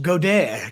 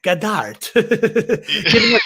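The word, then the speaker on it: Goedert: dane lenhart hearst or goddard uh pronounced godair gadart all the uh goner i'm going goader here i do think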